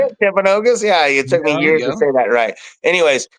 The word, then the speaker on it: Timpanogos: Timpanogos?